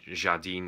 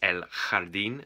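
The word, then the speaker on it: el jardín: a j a r d i n to pronounce it jardine like in french but Don't It's elard and That's Garden um yeah and there's ls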